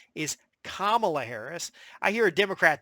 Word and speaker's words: Kamala: I know that in India it would be pronounced Camala Harris and I know that there's other you